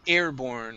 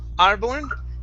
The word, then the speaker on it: airborne: check my notes okay airborne right here instead of R arborn it's air long a a Airborne Airborne very nice